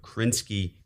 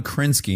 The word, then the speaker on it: Krasinski: Dave Ausher and John Krasinski uh wrote John Krasinski, not Krasinski. No, Krasinski. That poor guy. So, he's just a syllable away.